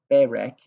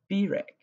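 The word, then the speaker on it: בֵּרַךְ: The example down at the bottom has berek instead of birek, because there's going to be a longer vowel because the first consonant is before a guttural, especially the aleph or resh.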